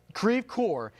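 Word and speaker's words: Creve Coeur: it was moving towards kraev coer and that's where we got on the Fox alert system ceve core okay I'm getting ceve core is the confirmation from locals there telling us the correct pronunciation thank you for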